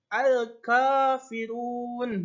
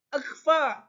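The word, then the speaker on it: الكافرون: Lalu ada juga alif lam qamariyah, di mana alif lam bertemu dengan huruf kaf. Lamnya tidak usah dibaca, lamnya dibaca. Jadi al-kafirun, bukan akfa, tapi al-kafirun, bukan akafirun, bukan akka, tapi al-kafirun.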